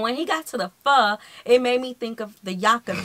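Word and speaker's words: phở: as pot of foe the Vietnamese eventually shortened it to Just Pho meaning people like me who go around calling it foe are in fact objectively pronouncing It Wrong by any standard have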